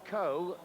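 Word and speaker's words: Cowe: Ian Culverhouse, who's a very stylish and experienced sweeper, is back in the side after injury, whilst Stephen Coe, that's how it's pronounced by the way, and Peter Thorne must be one of the youngest striking partnerships in the First Division.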